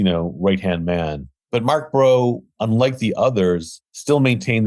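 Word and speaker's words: Breault: about Mark Brill brault sure Mark it's actually pronounced bro Mark bro I joined the group sort of later on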